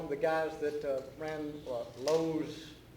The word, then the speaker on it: Loews: the guys that ran Lowe's theater shows. It's spelled Loews.